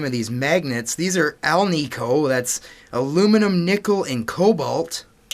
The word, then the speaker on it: Alnico: In my very old videos, I used to mispronounce the name of these magnets. These are Alnico. That's aluminum, nickel, and cobalt. That's the style of magnet we have here. Although I used to say Allegro, like the Zenith style of speakers.